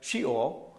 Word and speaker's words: Sheol: Y entonces vamos a ver, Seol o el Hades, en el hebreo se pronuncia Sheol, y la definición es lugar para los muertos.